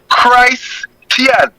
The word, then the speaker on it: Christian: t i a and the proper pronunciation of that word will be Christ Tien this is the mistake